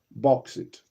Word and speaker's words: bauxite: Bauxite. Not boxes.